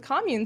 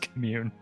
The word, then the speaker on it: commune: because you did it uh you cast the commune spell so that was really help thank you for that it's pronounced commune okay can neverone just get off like this